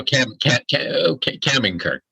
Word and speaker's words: Kaminker: I have with me today Kaminker. Did I pronounce that correctly? Kaminker. That's. Why correct. don't you pronounce it for us so people get the right accent? So Kaminker, but you were pretty close.